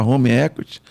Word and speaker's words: home equity: É home equity. A gente usa fala com um pouco de sotaque brasileiro, a gente fala home equity, mas a pronúncia mais correta, os americanos falam home equity.